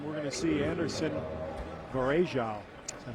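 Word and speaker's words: Varejão: the air, and we're going to see Anderson Varejao. Is that how you pronounce it? He has changed the pronunciation of his name several times this season. He says now Varejao. Varejao.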